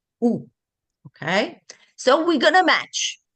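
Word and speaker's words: où: That's another completely one, but the pronunciation is the same. Ooh, okay?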